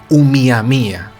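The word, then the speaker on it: ʻOumuamua: En lengua hawaiana pues se llamaba Umiamia. Se escribe Oumuamua, pero se tiene que decir Umiamia.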